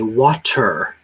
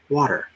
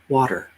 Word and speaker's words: water: water as water well sometimes the t sounds like a d and i say it's a very soft t so we don't say water that would be a very hard t water water it almost sounds like